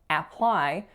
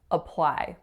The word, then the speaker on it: apply: word apply apply so the first letter is obviously the letter A however we are not hearing or making an ass sound we're not saying apply we're making a schwa sound so a really short up sound and that's it apply apply but is